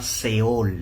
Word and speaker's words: Sheol: almas, usted tendría que buscarlo con la palabra Seol, Sheol, S-H-E-O-L, Sheol. Cada vez que se pronuncia y se diga esa palabra en el Antiguo Testamento, usted tendría que detenerse, ¿verdad?